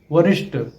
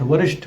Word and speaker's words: वरिष्ठ: की जरूरत नहीं है कुछ शब्दों के अंत में ट और ठ के उच्चारण में भी अक्सर गलतियां मिलती हैं कनिष्ठ वरिष्ठ बलिष्ठ कुष्ठ आदि शब्द गलत है इन शब्दों में ट की जगह ठ का प्रयोग करना चाहिए कनिष्ठ वरिष्ठ बलिष्ठ सही शब्द